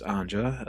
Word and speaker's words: Anja: Anna, sometimes referred to as Anja, as that was the original pronunciation before she immigrated to the US, is Art's mother and Vladek's first wife.